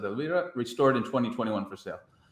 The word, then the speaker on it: Elvira: That's Elvira, but yeah, they pronounce it Elvira.